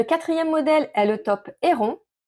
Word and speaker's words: Héron: Le 4e modèle est le top Héron. Je le prononce à la française, ne m'en voulez pas.